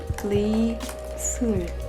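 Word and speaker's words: 이설: Lee Sul. When people ask me for my real name, my Korean name, I say, oh, it's Lee Sul. In Korean pronunciation, it's Lee-sul.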